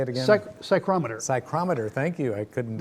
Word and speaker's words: psychrometer: psych psychometrist how do you say it again psychrometer psychrometer thank you i couldn't uh tongue tied